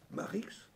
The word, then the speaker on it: Marx: mort de simon mannix marix et bien c'est la façon dont dans le rhin on prononce marx marc x et o